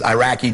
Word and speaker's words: Iraq: protect them so and we never even pronounce the country right and we called it Iraq it's not Iraq it's Iraq Rock sounds like that's not the point